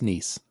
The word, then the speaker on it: Nice: bhella who is playing nice nice it's pronounced niece exactly I was talking